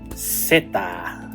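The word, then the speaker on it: zeta: And this is pronounced seta.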